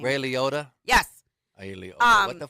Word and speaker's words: Ray Liotta: Ray Aolo, the one that died. Whatever. Okay, keep going. Ray Aolo. I'm so mad. I can't pronounce his name. Ray Liotta.